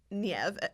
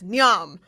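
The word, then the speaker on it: Niamh: There is no V in Nev. And I remember reading a book where the character's middle name was Nev, and it's spelled Niahm. That's Nyam.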